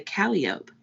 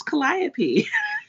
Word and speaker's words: Calliope: was pronounced burgundy oh and um calliope they just pronounced the calliope which is awful no it's that when you hear about the calliope projects it's calliope shut up hey kalyn welcome